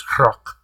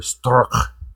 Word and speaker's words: Strzok: FBI director defending the whole Robert Strzok thing, and I believe it is Strzok. Or Stork. It's like a Russian Klingon pronunciation.